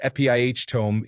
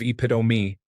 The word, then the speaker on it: epitome: That same friend pronounced epitome as epiihtome instead of epitome, until I corrected him.